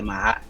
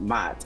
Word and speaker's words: Ma'at: That's what I know the Ma'at to be, and that's what they call it, the Ma'at, not Mat.